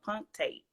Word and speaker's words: punctate: Well, I don't know if I'm saying it right, but it's spelled P-U-N-C-T-A-T-E, so punctate.